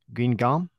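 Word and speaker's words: Guingamp: been a staple of I think it's pronounced green gum first made his appearances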